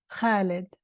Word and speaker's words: Khalid: Even my 8-year-old could constrict her throat muscles the right way to say Khalid, immortal like an ancient olive tree, a flame that never abates.